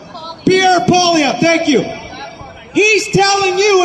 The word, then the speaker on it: Poilievre: How do I pronounce? Pierre Poilievre, thank you.